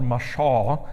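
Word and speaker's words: מָשָׁל: But if you look in the Old Testament, the word for parable is called mashal, is how it's said.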